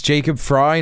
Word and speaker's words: Frey: In Minneapolis, Governor Walls and Mayor Fry, they instead choose Is that how you pronounce his name? Fry is Jacob Fry, not Jacob Frey.